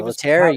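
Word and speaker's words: Pilittere: Okay, maybe that's maybe he's connected with Rocky's new assistant hitting coach, PJ Piliteri, I believe. Piliteri, you got it. Good pronunciation.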